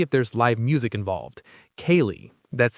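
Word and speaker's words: ceilidh: Kaye, that's c e i l i d h. Yes, a sale is pronounced kaye.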